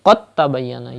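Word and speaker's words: قد تبين: to pronounce dal, and you have to join qaf mutaharrik with ta mushaddad, like qad tabayyana. You will not say qad tabayyana, but you will say qad tabayyana.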